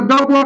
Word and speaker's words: the: ठीक है, नाउन के ऊपर दबाव बनाऊं, तो उस दशा में अगर द बॉय कहेगा, क्या कहेगा, द बॉय, द कहेगा, इसका उच्चारण बच्चे तो कोई दबाव नहीं पड़ा। ठीक है, लेकिन जब इसी का